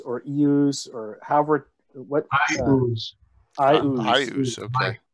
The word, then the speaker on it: Iuz: Iuz. Iuz, okay. I have an open boil and I now ooze. Iuz. I think. Ah. He's an Iuz. As if it were the letter I and then O-O-Z-E.